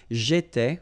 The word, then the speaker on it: j'étais: J'étais, okay? Remember, here we've got accent aigu, so it goes like et, all right?